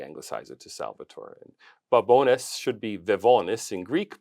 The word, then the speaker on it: Babones: Here in studio, I have got Salvatore Babones. Did I pronounce it right?